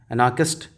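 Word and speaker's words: anarchist: एनार्किस्ट एनार्किस्ट एनार्किस्ट ऐसे pronounce करेंगे। एन एनार्किस्ट एनाकिस्ट एनाकिस्ट ठीक है अगर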